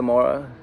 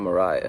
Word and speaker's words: Mara: Is that how you say it, Mara? It's not Mariah.